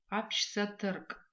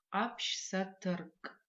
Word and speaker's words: апшсатырк: Апшсатырк. Давайте еще раз попробуем произнести апшсатырк. Обратите внимание на звук «к» в конце этого слова. Пишется этот звук как «к», палочка, произносится как «к».